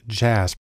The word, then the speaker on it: JASP: open source Community has developed a program called jasb it's actually pronounced jasp which is sort of an open-source version of